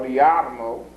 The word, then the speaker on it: Jarmo: To their utter astonishment, after having worked with one city in particular called Jarmo or Yarmo, J's are usually pronounced as Y's in the Middle East, at Yarmo, which for